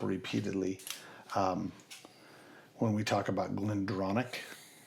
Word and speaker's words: GlenDronach: to Brookladich, CH is always pronounced as a K.